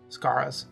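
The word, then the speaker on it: Skara: out Sakura's birthday invitation scaras Scara that's how you pronounce it yes this again was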